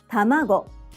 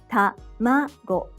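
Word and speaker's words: たまご: Each syllable is pronounced with either a high or low pitch. Tamago, sakana. The pitch accent for each word is determined when said in isolation. So, if you pronounce it in a different pitch, such as tamago, it sounds strange.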